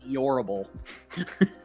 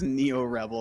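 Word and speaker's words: NeoRebel: I think I read it as Neorable. You got on to me for saying Alexis. Neorabel. Neorabel. I think it's Neo Rebel.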